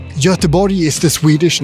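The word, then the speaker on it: Göteborg: English name as well as a Swedish name jotabori is the Swedish name but as you know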